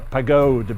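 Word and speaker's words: Pagode: Or in German it's a pagod because it ends in an e and not an a.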